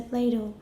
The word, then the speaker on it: plateau: production there was a plateau. Plateau. No. 不是没有 tap. Plateau. 为什么没有 tap? Very good. The second syllable is stressed. Plateau. We wouldn't say plateau.